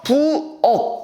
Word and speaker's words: 부엌: 뭐가 있을까 자 우리 부엌이라는 거 있어요 부엌 자 부업 같은 경우도 실제로 발음하면 어떻게 돼요 부업 기업으로 말하면 되죠 그렇죠 그럼 키역에 있는